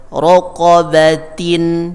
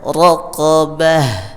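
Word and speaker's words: رقبة: Jadi raqabatin, ketika waqaf dibaca raqabah.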